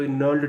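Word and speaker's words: gnarled: reciting अ fathers नल्ड disease, इसमें बेटा जी word silent है, तो नल्ड डिजीज़, नल्ड का मतलब होता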